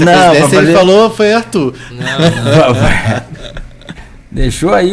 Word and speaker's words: Árthur: Arthur. Tem acento agudo no A para manter a pronúncia inglesa.